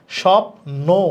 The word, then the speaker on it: স্বপ্ন: আর শুরুতে থাকলে বয়ের উচ্চারণ হবে না। তার মানে এটা লেখা স্বপ্ন। তাহলে বফলার উচ্চারণ দেখো হচ্ছে না, স্বপ্ন।